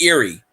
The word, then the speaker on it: Youree: Youree, but they pronounce it Erie. Like Erie, but it's Youree.